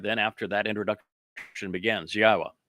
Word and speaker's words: Yahowah: Then after that introduction begins, Yahwa, which is the proper pronunciation of God's one and only name as directed by his Torah teaching regarding our higher existence and our shalom restoration.